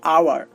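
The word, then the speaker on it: hour: Silent H, দেখুন আমি দুইটা উদাহরণ দিয়েছি, আওয়ার, অনেস্ট। তো আপনারা একটু লক্ষ্য করুন, এখানে এইচ বসেছে ঠিকই, বাট কোনো কাজ করছে না, কাজ করছে পরের বর্ণটা। দেখুন এখানে ও কাজ করছে, আর উচ্চারণ হচ্ছে আওয়ার, আর এখানে আটা হচ্ছে স্বরবর্ণ।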